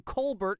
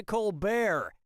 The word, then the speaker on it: Colbert: Okay, so Stephen Colbert of the Colbert Report changed the pronunciation of his name from Colbert to Colbert, and that's how he became rich and famous.